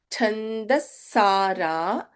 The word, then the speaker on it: छन्दस्सारा: Chandassara, Shastrasara. Please notice the difference in the pronunciation of Sa in both the places.